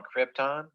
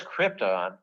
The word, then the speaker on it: Krypton: So anyhow, the deal is in Superman, Marlon Brando, he makes his money, and he says Krypton, and he puts the emphasis on the first syllable.